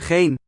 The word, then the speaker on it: geen: Note that the final ends in this word and this word are not pronounced, but in this one syllable word, Geen. We. geen, it keeps the n sound.